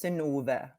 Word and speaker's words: Synnøve: So it's Synnøve Macody Lund. Yeah, amazing. With an O, I guess. Not this strange Norse. The strange, it's like but it's pronounced right? So like, it's an O. So it's Synnøve.